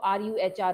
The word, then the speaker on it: Ruhr: There should not be a single student who does not know the spelling of RUHR, Ruhr. So what is the spelling? RUHR.